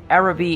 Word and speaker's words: Araby: likely to see now first things first how is the name pronounced era v is certainly the english pronunciation but considering i try to get the french accent in for everything from Bertoni a-- i'm going to do the same for these guys and assume the actual pronunciation is adavi my only experience with